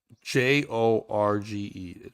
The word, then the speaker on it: Jorge: that could be it too but why he's Jorge I I don't understand how that happened sometimes Spanish people mispronounce George I think that's what happens j o r g e right that's always Jorge right yeah yeah no